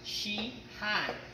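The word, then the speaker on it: shihan: one is a Japanese word and it's actually pronounced she hi it's spelled s H I and then h8n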